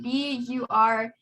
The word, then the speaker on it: bureau: I don't know how it's pronounced. BUREAU.